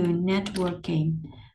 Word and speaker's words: networking: Rồi, tiếp theo mình có từ networking. Networking. Networking thì mình lưu ý là nhấn ngay chỗ vần 1, cho nên là mình sẽ đọc là networking, là.